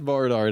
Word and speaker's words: Barnard: Matt Bardard, how you doing? I'm good. Am I pronouncing that right, Matt?